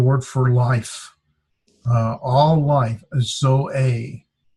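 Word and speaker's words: ζωή: All life, zoe. It's pronounced with 2 syllables or 2 vowels, and we separate. I hate it does that. Zoe, and there's the accent, so it's zoe.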